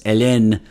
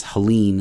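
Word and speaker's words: Helene: it's it's hurricane Helen it's elen but I think it's Helen is what people are saying um he has been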